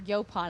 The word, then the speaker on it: Yaupon: Of course, Yaupon now, or Yopon, I guess is how it's said.